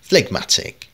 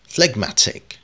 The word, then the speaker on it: phlegmatic: আজকে আমরা যে শব্দটি উচ্চারণ শিখব সেটা হচ্ছে ফ্লেগম্যাটিক। ফ্লেগম্যাটিক, আমি আবারও স্লোলি বলছি, ফ্লেগম্যাটিক অর্থাৎ যে কিনা শান্ত স্বভাবে বা সহজে রাগ করে না এমন কাউকে বোঝায়।